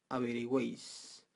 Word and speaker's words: averigüéis: Si le ponemos diéresis a la palabra averigüéis, es para asegurarnos que la U se pronuncia.